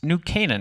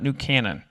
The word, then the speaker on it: New Canaan: For those who didn't know how to pronounce this wonderful town, it's New Canaan, not New Canaan.